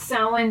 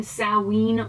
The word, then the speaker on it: Samhain: sense to me um some people pronounce sallen salween or sao anne um or some people